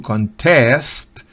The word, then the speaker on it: contest: es competencia o concurso Pero podemos decir con test con el acento en la última sílaba y significa competir o concursar como sustantivo es canters Permítame Resaltar ese acento cantes cantes Pero cómo verbos es con test con test pero aquí la estoy